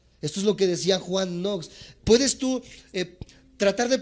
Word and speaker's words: Knox: de estos grandes hombres se llama Juan nox se escribe K n o x kn n o x Juan nox y él